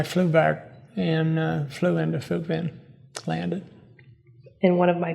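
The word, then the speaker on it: Phước Vĩnh: And you just Phuc Vinh, mentioned, yeah. say that again. Phuc Vinh, Phoucvinh. Okay. Phuc Vinh. The Vietnamese pronounce it a little different.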